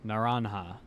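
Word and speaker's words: naranja: Reminder that J is pronounced like an H in Spanish. Naranha.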